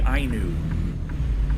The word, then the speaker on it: Ainu: Not Inu, Ainu.